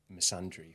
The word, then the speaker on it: misandry: Um, going back to the point prior to that, at which point does feminism tip into misandry or misundry. I don't even know how to pronounce that second because I've only just learned